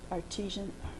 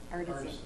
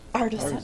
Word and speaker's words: artisan: and spirits and the artesian, the cheese. Okay, how do you say it? Artesian? Artisan. Artisan.